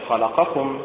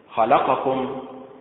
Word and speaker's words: خلقكم: فمثلا خلقكم ينطقها أهل القاهرة في مصر هكذا خلقكم بالنبر على حركة الخاء، وينطقها أهل الخليج العربي والمغاربة والتوانسة والجزائريون بالنبر على حركة التاء هكذا خلقكم، وينطقها أهل الصعيد في مصر بالنبر على حركة اللام هكذا خلقكم، أي بالنبر على حركة